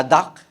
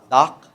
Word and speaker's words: dock: The duck and the boat. Hindi yung duck ha. Hindi 'yung duck na gan'n. Duck. D O C. The duck. Is that the right pronunciation? Dock.